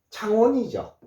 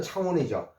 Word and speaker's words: 창원: 그렇지만은 우리가 도로 표지판의 지명은 반드시요 제자로 돼 있고 CH가 나오면 분명히 창이라고 하십시오. 그래서 요렇게 창에다가 요거 워에다가 니은하면은 요거 뭡니까? 요거 창원이죠. 창원. 창원은 이렇게 돼 있습니다. 그래서 도로 표지판의 CH는 치스로 읽어 주시고요.